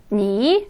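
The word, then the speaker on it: 你: 니, 그 다음 닌. 그래서 니라고 할 때는 삼성이었고요.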